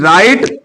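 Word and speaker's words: write: यहां पे ठीक है डब्लू नहीं बोला जाएगा डब्लू साइलेंट है राइट road रिटन राइट road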